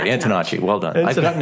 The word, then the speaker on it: Antonacci: Antonacci. That's right. That's exactly how you say it. Okay. I didn't know if it was like a ch or a hard C.